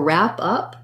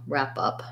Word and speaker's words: wrap up: And then for wrap up, we have the W is silent, the A is a black cat vowel, wrap is like cat, and then up is a schwa, wrap up.